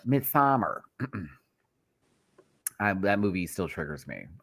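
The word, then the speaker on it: Midsommar: I have to say it like that. Not Midsummer. Midsummer.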